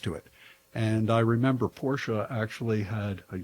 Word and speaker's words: Porsche: He he says Porsche because it comes out quicker. He's all about quick times. It's two syllables.